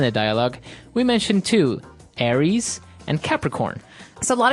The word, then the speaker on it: Aries: And so it's pronounced Aries.